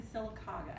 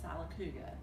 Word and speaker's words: Sylacauga: Let's see, well, I was born in Sylacauga, Alabama, and I have heard a few news anchors call that Sylacauga. So the locals get all up in arms when Sylacauga becomes Sylacauga. They just do not like that.